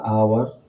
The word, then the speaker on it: hour: फिर है आवर, HOUR, आवर, यहाँ पर एच साइलेंट है और इसका उच्चारण जो है अ से हो रहा है, इसलिए यहाँ पर हम लोग एन का प्रयोग करें।